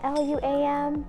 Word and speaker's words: Luam: Balaam this is it always get butchered for letters and it's two syllables yet I was a whale lamb mom Lou um is there an Lu am I just always knew